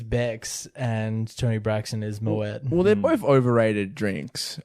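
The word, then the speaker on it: Moët: So how did you pronounce M-O-E-T? Moe? I think he pronounces it in the song Moet, which I think is correct.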